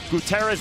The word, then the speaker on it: Gutierrez: Kansas accent creeping through he prefers gutterz rather than Gutierrez as a pronunciation thus that's what we